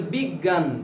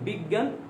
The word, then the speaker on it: বিজ্ঞান: যেমন বিজ্ঞান, জয় ইউ, তাহলে হওয়া উচিত কি? বিজ্ঞান। এই উচ্চারণ কি হয়? বিজ্ঞান, গ গ হয়ে যায়, অয় চন্দ্রবিন্দু, বিজ্ঞান।